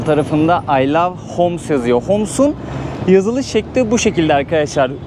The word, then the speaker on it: Homs: Homs'un yazılış şekli bu şekilde arkadaşlar. Böyle telaffuz ediyorlar.